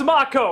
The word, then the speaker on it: Mako: always want to say yeah I know it's mock oh it's it's very nice you named a character after him but it's like I know that's how it's pronounced that I know it's not make oh it's just a lot of our people are